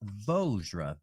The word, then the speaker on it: Vajra: But apparently Vajra, V-A-J-R-A, is pronounced Vojra. V-O-J-R-A-H. Vojra. It's pronounced.